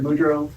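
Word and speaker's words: Boudreau: Um, my name is Budro.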